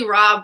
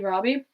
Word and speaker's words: Rabe: do have a normal cast list Oh Lily rabe was a Helena I thought she was really good as Helena she was in a lot of the American horror stories no Lily Robbie mm-hmm oh is that how you pronounce her